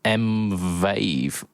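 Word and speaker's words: M-Vave: Nux, Moo, Cord, and M Vave. He he confirmed it is pronounced Mvave and spelled it out phonetically. V A Y V.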